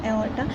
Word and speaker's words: aorta: This is pronounced as aorta, sorry, I'm pronouncing it wrong, aorta.